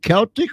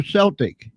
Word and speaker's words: Celtic: Oh, is it Celtic or Celtic? You can pronounce it both ways.